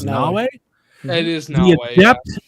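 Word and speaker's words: Naoe: Players will experience the intertwined stories of Nawe. Did I get that right? It's spelled like Mayo, but I think they said it was Nawe.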